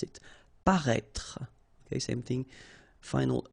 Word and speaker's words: paraître: Paraître. Okay, so if you remember from the first video, then we had as well this accent circonflexe on the top of I here, but then you don't pronounce it.